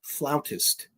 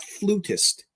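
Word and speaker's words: flautist: Ian Anderson, of course, the the vocalist and the floutist. That's how you pronounce it. Floutist. Not flutist. It's floutist.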